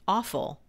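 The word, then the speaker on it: offal: over the years i actually looked up the pronunciation because i'm like okay is that am i saying this right awful it's o-f-f-a-l oh i don't know this okay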